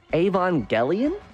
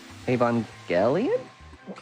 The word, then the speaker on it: Evangelion: Yeah, you say soft G. Yeah, right? Like Evangelion?